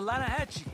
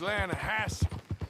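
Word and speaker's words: Lannahechee: The The Lanahechee. It runs right near here. Yeah, but it's pronounced Lana Hassy.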